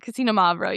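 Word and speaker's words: Xinomavro: But I've always learned how to say it is like Casino Mavro. Casino Mavro. You kind of say it all together. But it does start with an X.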